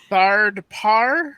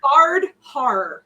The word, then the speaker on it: Thard Har: You said Thard Par? Thard Har. No D. Hard. Har.